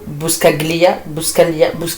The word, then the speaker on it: Buscaglia: De Philippe Richel et Alfio Buscaglia, je crois qu'on prononce pas le G, hein, vraiment.